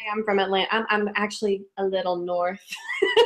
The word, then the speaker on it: Atlanta: I'm I'm down in Atlanta and that's yeah that's how you say it if you're from here Atlanta Atlanta there's no tea am I doing it